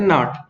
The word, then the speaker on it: gnat: इसको पढ़ते GNAT को हम पढ़ते नाट।